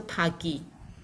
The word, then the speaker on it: pagi: When you see two P-A, we will pronounce as pa. And you see the I is the E sound, which is a vowel. So pagi.